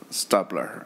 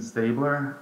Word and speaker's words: Staebler: Stubler, and help us with the pronunciation of your name in case I pronounce it wrong. Thank you. Hello, it's Stabler.